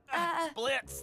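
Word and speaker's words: Blitzø: Blitz, the O is silent.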